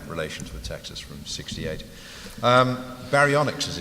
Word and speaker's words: Baryonyx: Baryonyx, as it's pronounced, which is an old dinosaur, by the